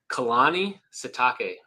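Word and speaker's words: Kalani Sitake: And how do you pronounce his name again? I don't want to say it wrong. Kehani Satake.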